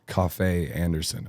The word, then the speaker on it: Kofi Anderson: is you play fiddle for the country artist Kofi Anderson.